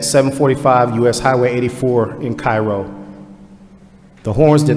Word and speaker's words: Cairo: And only in the state of Georgia could we pronounce Cairo as Cairo.